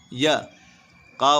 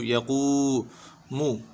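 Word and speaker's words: يقوم: हाया ज़ेर ही, यूही, यक़ूमु, या के ऊपर ज़बर है, खींचेंगे नहीं बिल्कुल भी, या का वाव पेश कू, यकू, क्या हुआ? यकू, याकू नहीं पढ़ना है, यकू, या ज़बर या ज़बर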